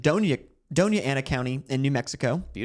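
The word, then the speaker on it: Doña Ana: Uh this is uh it's pronounced Donia Donia Anna County in New Mexico.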